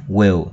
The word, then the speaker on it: will: Đây là âm ngắn nhé, will. Đừng có đọc là will nhé các bạn nhé. Will. Và đọc nhanh thì nó là were.